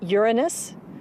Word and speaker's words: Uranus: pronounce the planet's name Uranus which is very likely closer to the original pronunciation of the name of the God after it was named